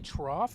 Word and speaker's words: trough: trough is it really trough it's not trough it's spelled like it's like rough rough yep trough does no